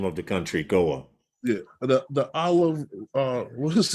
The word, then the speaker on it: Goa: I had it as Goa, the Turtle Conservation in Yeah, Goa. yeah, Okay, that is the name of the country, Goa.